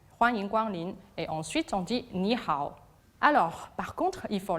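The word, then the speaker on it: 你好: Ni hao, avec le H, il faut bien le dire. Si on ne prononce pas le H, ça veut dire autre chose, ils ne vont pas comprendre. Effectivement, sans le H, niao veut dire faire pipi.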